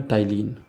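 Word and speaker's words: ptyalin: जो most common enzyme उसका नाम है टाइलिन पीटी वाई एल आई इसकी स्पेलिंग है पी से शुरू होगी इसका नाम है टाइलिन या फिर इसे आप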